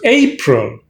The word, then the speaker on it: April: language uh so it's a pro true and a stress on a so it's april the month is april don't say a prayer i'll give you one